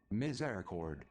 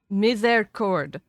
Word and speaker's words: misericord: Misericord. Misericord. Misericord. Misericord. I think it's a French word.